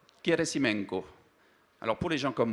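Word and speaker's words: Gerasimenko: Russe vous découvrirez leurs deux noms ça se prononce turumov keresimenko alors pour les gens comme moi on a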